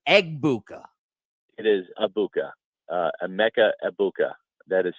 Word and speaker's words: Egbuka: It is Abuka, Emeka Ebuka. That is how it's pronounced. The G is silent.